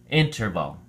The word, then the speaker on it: interval: week six quarter three interval has three syllables in trouble and the emphasis or stress is on the first syllable so we say interval interval it's used as a